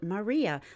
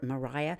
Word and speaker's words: maria: smooth low-lying lunar planes are called Maria or Mariah it's the plural for the word mare the Latin word for C and you should be